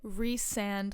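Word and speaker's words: Rhysand: is reand that's it reand like Reese's pces and Reese and not rice and it's it's I'm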